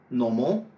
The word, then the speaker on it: normal: « accidental », « normal », « normally ». À chaque fois, l'accent est placé sur la première syllabe.